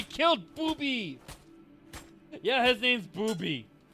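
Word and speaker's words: Bubi: no yay we killed booby yeah his name's booby it's like bu u b y but it's pronounced booby and uh she becomes the V the main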